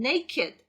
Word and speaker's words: naked: 그래서 발음도 기존의 동사에 적용되는 그런 발음 규칙 따르지 않고 naked, naked 이렇게 발음이 돼요.